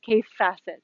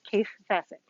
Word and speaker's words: Kaffe Fassett: to say it but i believe the correct pronunciation is case facet so if you're wondering uh my husband thought for years i was saying k-a-t-e but it's k-a-f-f-e case facet on to p and b ramblings ramblings is